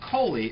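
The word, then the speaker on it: colly: Collie, and they pronounce it Coley, and...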